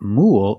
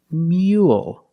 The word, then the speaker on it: mule: But the second word is not mule, it's mule. So it's a little different.